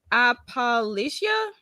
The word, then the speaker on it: Appalachia: How do you pronounce this place? Appalachia? Yeah, like the Appalachian Mountain like range, like in Kentucky specifically.